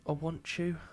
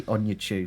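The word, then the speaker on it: Onuachu: Was it like Paul Awantchu? I don't know how to pronounce it. Awantchu? I think I'll give you that. It is Paul. Yeah, but I say Onyechu.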